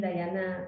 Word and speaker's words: Dayana: My name Dayana. Dayana is a little bit Spanish spelling, Yes. Dayana.